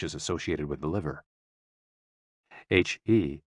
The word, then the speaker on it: he: associated with the liver h e pronounced like her with a yawn which